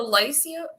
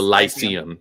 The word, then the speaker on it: Lyceum: you got me wait how do you say it's the lysia the lyceum yeah it's where a strange